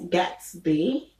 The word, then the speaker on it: gatsby: and then there is gatsby as in the movie the great gatsby okay um is spelt